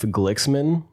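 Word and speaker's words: Glixman: I'm going to guess that's how you sp say it. I don't know if the X is silent or something, you know. No, I'm pretty sure you got it right.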